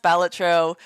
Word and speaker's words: Balatro: it pronounced batro uh is technically pronounced batro but pronouncing it that way makes my brother angry which is very